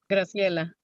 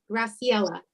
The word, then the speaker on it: Graciela: Señora, pronuncie su nombre de nuevo. First name as well. También su primer nombre. Graciela. Graciela.